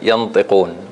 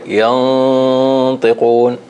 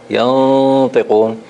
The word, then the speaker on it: ينطقون: You didn't make the ikhfa. So you said ينطقون. You're supposed to say ينطقون, ينطقون. And there was no qalqala there.